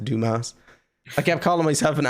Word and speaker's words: Dumas: Alexander dumbass it's like it's pronounced Dumas I kept calling myself